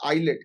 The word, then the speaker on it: islet: ये देखो, ये दिखाई दिखाई छोटा सा आइलैंड, छोटे आइलैंड को हम लोग बोलते हैं आइलेट। क्या बोलते हैं? आइलेट, ISLET, उसकी स्पेलिंग है कच्छत थीबू, कच्छत थीबू।